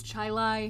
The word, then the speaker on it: Chili: was a student at gates chile high school which some people say gates chili high school see it's like the brittany thing they're trying to i'm sorry but it's spelled like the restaurant i'm saying it like the restaurant chili um so spring break